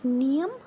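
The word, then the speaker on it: pnea: लिए यूज होता है निया ब्रीथिंग के लिए और नियम लंग्स के लिए ये यहां प जो है पी है ना ये साइलेंट है इसलिए हम इसको निया पढ़ रहे हैं है ना फिर आता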